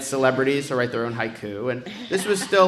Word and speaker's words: Haiku: We did a campaign called Hike You Glenn Beck. Well, that's how you pronounce it. It's Haiku Glenn Beck.